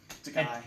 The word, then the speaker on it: Takei: Sorry, Takei. And to quote his own joke, Takei, it rhymes with gay.